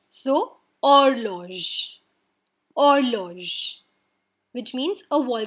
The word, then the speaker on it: horloge: In French, H is a silent alphabet. That's why any word starting with H, we are not going to pronounce the H. So, horloge.